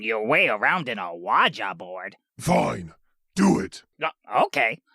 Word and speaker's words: Ouija: Oh, it's an Awaja board. See? I believe it's pronounced Ouija. Ha! Maybe in your cute little world, but here in America, we call it an Awaja board.